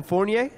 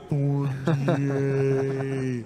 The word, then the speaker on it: Fournier: And we are here with Evan Fournier.